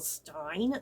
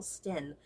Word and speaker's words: Sten: like in the past i have pronounced her name camilla stein but i just realized there's like no i in there like that would be pronounced stein so i think it's camilla sten i don't know and